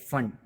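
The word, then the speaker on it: Pfund: उसके उसके बाद है ब्रैकेट, उसके बाद जो है वो फंड, इस तरीके पी साइलेंट है उसके अंदर, मैं स्पेलिंग में बहुत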